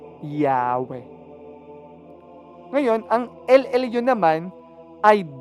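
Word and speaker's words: Yahweh: po naging yahuah then base sa mga expert sa pag-aaral ng wika na ang pinakamalapit na pagsambit or pagpronounce ay yahwe ngayon ang llu naman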